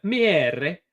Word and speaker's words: Miere: Miere.